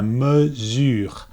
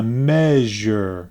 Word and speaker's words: mesure: pronunciation might say la measure because they're thinking about the english word measure right so they say la merger it's not la me it's so the e is pronounced and then for the